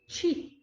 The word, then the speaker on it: qi: A energia, que os chineses chamam de qi, tá? É só a pronúncia, né? Mas é qi, é a energia, é o impulso que faz aquela matéria funcionar.